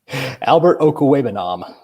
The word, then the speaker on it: Okwuegbunam: Do you think, and can you pronounce AlbertO's last name yet? Or are you still working on it? Albert Okwuegbunam.